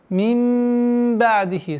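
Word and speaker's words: من بعده: Мин ба'дихи. Со смыканием губ. Мин ба'дихи. Айн. Нужно останавливаться сукун, при применении сукуна мягче, не интенсивным.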